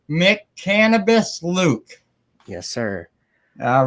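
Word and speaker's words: McCannabis Luke: I want to make sure I try to pronounce this right mck cannabis Luke yes sir all right there we go I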